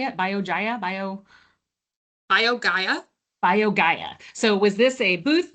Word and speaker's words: BioGaia: BioGaia.